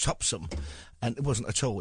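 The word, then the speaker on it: Topsham: there was one in a place called topam which the locals pronounced topsum and it wasn't at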